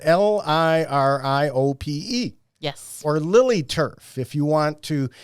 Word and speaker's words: liriope: for years but liriope because I want to call it lyriopi or whatever you know for people keeping score at home it's spelled l-i-r-i-o-p-e yes or lily Turf